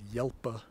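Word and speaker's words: hjelpa: of helpa of course in most Norwegian dialect says yelpa right it's actually the H it's not pronounced rather than the J but I could see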